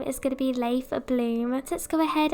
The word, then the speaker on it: Leif: to be Leif, and it's spelled like it kind of looks like leaf, but you pronounce it Leif.